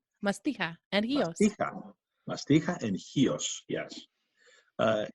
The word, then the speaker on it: Chios: Google Maps you'll see the island spelled with a CH iOS the people from hios and the Greeks in general they spell it with an X so it's X iOS yeah it's it's a